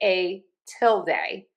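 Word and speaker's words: tilde: filed_nametxt underscore All right you have two options for I say a tillild the some people say a till day. For both of these we are going to stress syllable number one.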